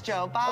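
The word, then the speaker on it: 九吧: So it's Joe Ba. Okay. It's pronounced the same way to say Nine Bar and to just say bar.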